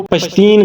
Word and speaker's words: پشتین: سے DVM کیا تھا۔ منظور احمد خود کو پشتین کہتے ہیں، جو کہ پشتون کا تلفظ ہے۔ اس لفظ کا مطلب